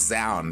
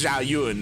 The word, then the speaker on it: Zhao Yun: I mean, time and time again, we hear Tasteosis call it Zound, even though time and time again, Sushi tweets at them saying, like, this is how you pronounce Zhao Yun, and it's like, God damn it.